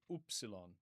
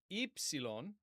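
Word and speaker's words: ύψιλον: Sigma epsilon epsilon in Arasmian we're taught to say oopsilon oopsilon ipsilon the he c makes the ps sound and then omega.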